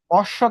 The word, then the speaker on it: অশ্ব: অশ্ব তাহলে কি হবে বলো তো? অস স। শেষে ওকার কেন দিলাম? কারণ অশ্বকে তুমি টানতে পারবে।